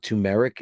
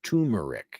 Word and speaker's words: turmeric: I've been saying it wrong my whole life. It's uh I What did I used to call it? Tumeric. It's turmeric.